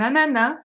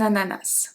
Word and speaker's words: ananas: A pineapple is un ananas, un ananas. Both pronunciations are correct.